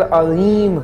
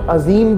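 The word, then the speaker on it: عظيم: रुकू में हम पढ़ते हैं सुभान रब्बियल अज़ीम। लोग अजीम भी बोलते हैं पर सुभान रब्बियल अज़ीम ये राइट प्रोनाउंसिएशन है।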